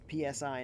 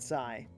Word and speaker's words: PSI: also just a note it's pronounced PSI not PSI um I don't think